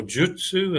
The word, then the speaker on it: Jyutsu: Jin Shin Jyutsu, or Jutsu as it's perhaps properly pronounced, is an art of harmonizing life energy in the body.